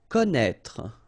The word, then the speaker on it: connaître: Okay, so you get this accent circonflexe on the top of E here, but then, you don't pronounce it, okay, so don't be afraid by this accent circonflexe because you won't pronounce it.